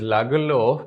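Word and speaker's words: Lagerlöf: rat trap by Selma lagerlov so here I'm pronouncing this word as lagalov because she is a Swedish writer and that's why this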